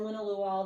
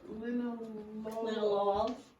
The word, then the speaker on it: linalool: How do you know in the spelling of the linalool, it almost sounded like the two O's are two different sounds.